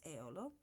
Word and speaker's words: Eolo: His name was Eolo. At least this is the way pronounced in Italian.